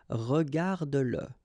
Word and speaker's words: regarde-le: Remember that if you've got, in some situations, the pronoun le, and if it comes after your verb, like in that case, then you will have to pronounce it.